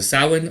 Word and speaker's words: Samhain: the feast of uh samhain or samhain as it's actually it's spelled samhain but it's pronounced samhain because it is celtic um you can look